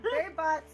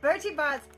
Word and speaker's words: Bertie Bott's: Barry Bott's. Burton. Bertie. Wow, I said it wrong. Yes, you did. Bertie Bott's every flavor beans, and they mean every flavor.